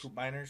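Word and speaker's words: Koopmeiners: Dubet Coupeers as well Coupe Miners. Yes, Coop Miners. Sorry, that's how you pronounce the name.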